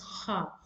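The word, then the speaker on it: خاء: So that's how you pronounce kha.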